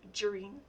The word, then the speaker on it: Gereen: again my name is gereen it's pronounced like margarine only take out the marge um so i will